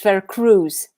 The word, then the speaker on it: Vercruysse: Well, there is an easy way to pronounce it. It's Vercruysse. Vercruysse?